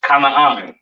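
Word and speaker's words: כנען: This is pronounced Kanaan, all right?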